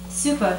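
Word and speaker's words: Supă: Supa shimorkov. 1. Pronounce the A with brev, like the E in other. Pronounce the S with comma, like the sh in show.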